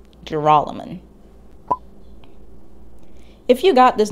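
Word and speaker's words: Joralemon: for the record it's jerolyman with an emphasis on the second syllable jeroloman if you got this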